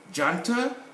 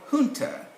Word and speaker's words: junta: is grammatical this one this word comes from spanish and so we can say jantar or hunter if you listen to the american you know a broadcasting you'll hear more of the hunter rather than junta then we come to